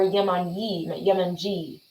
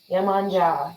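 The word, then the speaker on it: Yemanjá: It's Yemanya or Yemanji. She's an African and Brazilian goddess who's credited with creating the sea. It's fun to say. Yeah, Mm-hmm. Yemanja, Yemanji, either one.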